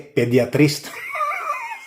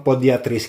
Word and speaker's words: podiatrist: Kasi kahapon nag-vlog tayo yung podiatrist eh yung pronunciation ko mali pediatrist.